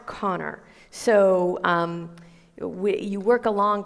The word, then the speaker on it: Conchobar: For example, Connor is pronounced Connor, but it's spelled like Conchobar, like it's Conchobar. Yeah. Yeah. So, but it's pronounced Connor.